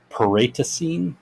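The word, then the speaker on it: Paraitacene: They continued towards the mountainous region of Paratacene, I think is how it's pronounced.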